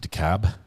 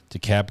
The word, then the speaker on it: DeKalb: sure DeKalb is pronounced DeKalb DeKalb County no l the L is silent Larry Millette case what's